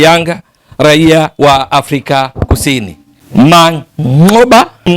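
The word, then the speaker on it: Manqoba: raia wa Afrika Kusini Mangoba ndivyo wenyewe wanavyotamka kule nchini Afrika Kusini matamshi yale ya kiiraki ya kina ya Wahadina Chaba kama unakumbuka vizuri Mang'oba lakini sisi kwa sisi wengine ambao hizi ng'a zinatusumbua sumbua basi ni vyema tu kusema ni Mang'oba Mwiti yes huyu ndiye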